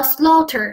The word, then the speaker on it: slaughter: 这个里的 gh 是不发音的，slaughter 表示的是大屠杀、屠宰的意思。